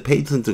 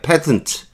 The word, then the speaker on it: patent: 발음의 그 발음이 틀린걸 자꾸 페이스트 페이턴트 그래요 패턴 츠 이게 맞습니다 저도 발음을 이런거 자꾸